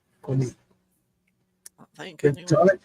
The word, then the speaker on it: quinine: How do you pronounce that? Quinine. Quinine? Quinine.